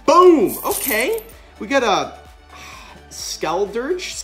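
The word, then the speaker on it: Skeledirge: Okay, we got a Skeldurge. Skeldurge is how you say it.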